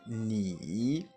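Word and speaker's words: 你: tu comment on dit tu en chinois c'est ni ni ni c'est le trè temps comme je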